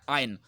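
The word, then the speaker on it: iron: then any metal देखिए इसको मैंने आयरन बोला लेकिन इसकी सही प्रोनंसिएशन है आयन आर साइलेंट होता है ब्रिटिश एक्सेंट के अंदर हम इसको पढ़ेंगे आयन आयन is harder than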